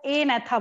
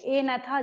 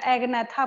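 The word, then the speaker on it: Agnatha: होगा उसको हम लोग ए नेथा बोलेंगे। यहाँ पे क्या होता है, जी साइलेंट होता है, सेकंड वाले में भी जी साइलेंट है और फर्स्ट वाले में भी जी साइलेंट है, ए नेथा, जी नहीं बोल रहे हम यहाँ पे।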